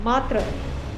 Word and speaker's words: matra: For example, the Sanskrit word matra with a long A and a soft T becomes mater in Greek and mother in English.